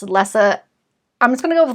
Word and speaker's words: Lessa: would have to be lisa from anne mccaffrey's dragon rider series i pronounced it lisa when i listened to the audiobook it was pronounced lessa i'm just going to